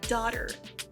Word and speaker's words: daughter: Ok, essa palavra se pronuncia como daughter, daughter. Como você pode ver aqui, esse GH não é pronunciado e esse AU tem som de O.